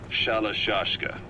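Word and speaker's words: Shalashaska: have known about that because somewhere along the line shashka got stuck on the end of sriracha the gorillas were using the name amongst themselves by the time i got to hearing about it pronunciation had wound up as shalashashka so half gulag half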